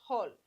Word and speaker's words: হল: এখানে কিন্তু হলো না হ্যা এটা হচ্ছে হল উচ্চারণটা হবে হল হল মানে হচ্ছে লাঙ্গল